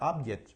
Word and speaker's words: object: funciona como noun Okay cuando funciona como noun también el acento va en la primera sílaba la fuerza del acento va en la primera sílaba se pronuncia object Okay object okay the